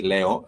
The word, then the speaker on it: leo: In case you're joining us I would say I said Leo you do say Leo as spelled like you'd have it spelled as Leo.